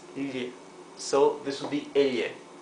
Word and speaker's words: elle: Double L has its own pronunciation. It would be il, similar to the GL in Italian. So this would be elle, right? In some Spanish-speaking countries like Argentina and Uruguay, the sound would be sh, but for most other countries it's elle.